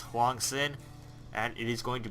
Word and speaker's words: HwangSin: here Huang sin or I think or correctly pronounced Huang sin and it is going to be the blue